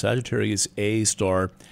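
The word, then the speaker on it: Sagittarius A*: again called Sagittarius A with a little asterisk and that's pronounced Sagittarius A star it's some kind of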